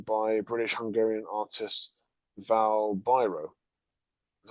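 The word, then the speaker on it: Biro: british hungarian artist val byro that's how you pronounce it byron like the pens he learned the real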